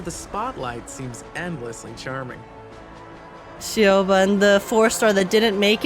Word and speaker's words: Siobhan: Siobhan, Siobhan. Siobhan is how you pronounce it.